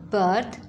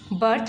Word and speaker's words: berth: As you see, both of these words have similar pronunciation, birth, birth.